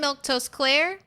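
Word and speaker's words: Milquetoast Claire: Uh, I'm Milktoast Claire. That's how you say my name.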